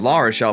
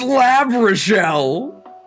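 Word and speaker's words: L'Arachel: We thought it was Lishelle, but it turns out it's Lab Rashelle, the only trouidor in the game.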